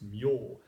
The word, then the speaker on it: 命: And shimyo, well, this character means life, and normally it's pronounced me, but in the Buddhist texts it's pronounced myo.